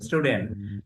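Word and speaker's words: student: ওকে, একটা উচ্চারণ আমরা শিখলাম যে এরকম শেষে যদি টি বা ডি থাকে, এর আগে এন থাকে, তাহলে আমরা এই টি ডি বাদ দিয়ে দিব, উচ্চারণ করবো না।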